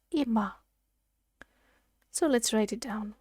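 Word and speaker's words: 今: cotton country that means now by itself it's pronounced ima so let's write it down one two three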